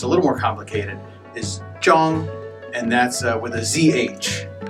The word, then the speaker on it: Zhang: ZH is pronounced as J or J. ANG is Ong. So altogether it's Zhang.